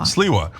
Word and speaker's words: Sliwa: No, it's Sliwa. Sliwa. But you just say it quick, but you go Sliwa half the time.